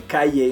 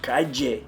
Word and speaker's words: calle: I would say calle, and they would say, no, calle. They would correct my pronunciation. But many places in the Spanish-speaking world, they say calle.